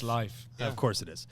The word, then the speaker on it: Leif: we were literally discussing this the other day because it's actually pronounced Pronounced life.